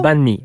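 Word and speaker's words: bánh mì: Minh, au Vietnam, on retrouve le banh mi. Est-ce que je le prononce comme il faut? Le banh mi, ouais.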